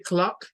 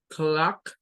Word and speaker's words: clock: y comienza con K, y luego el sonido de esa O es el sonido de la AO, clock, no es como decir clock, porque ahí está diciendo una O pura, es una mezcla entre una A y una O, como querer sacar la A con el sonido de la O, con